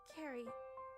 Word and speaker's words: Ceri: to me it's on the car oh it's pronounced Carrie like okay ah sorry my bad don't worry